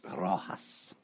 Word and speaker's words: Rojas: Rojas.